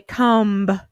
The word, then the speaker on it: comb: silent we don't say comb or thumb all of those letter B's are silent our next column him